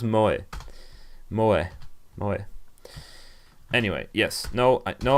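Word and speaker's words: 萌え: Pronounced Moe.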